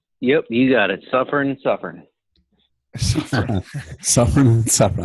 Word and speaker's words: Suffern: Am I pronouncing that right? Yep, you got it. Suffern.